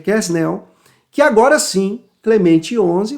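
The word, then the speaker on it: Quesnel: pasquier né ou pascácio alguns vão chamar de pasc mas a pronúncia é pasquier kesnel bom e lá no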